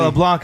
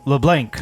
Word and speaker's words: Leblanc: to be silence see an american you you pronounce all the letters like it's not boudin it's boudin dude i haven't it's not leblanc is leblanc and look like this is that richard it's